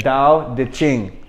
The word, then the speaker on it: Tao Te Ching: Y esto es el libro que él escribí más famoso, se llama Tao Te Ching. Okay, este se pronuncia da, not ta, but se escribe ta. Okay, Tao Te Ching.